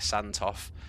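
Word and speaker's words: Sandtoft: That's how you say it, Santoff.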